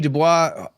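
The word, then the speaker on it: Du Bois: And I think it's a side of Dubois, is how he pronounces it, that not many people know, and even Dubois scholars haven't delved into this.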